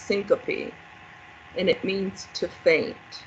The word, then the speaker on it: syncope: need to be familiar with it it's actually pronounced syncope and it means to faint okay so um